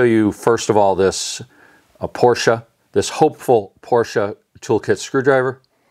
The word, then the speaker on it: Porsche: It's not Porsche, it's Porsche. That's the proper pronunciation.